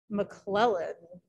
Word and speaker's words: McClellan: But McClellan, the second syllable, is the emphasized one.